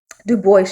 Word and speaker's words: Du Bois: Some say Dubois, but I know French, so I'm just going to say Du Bois because I think that's how he pronounced it.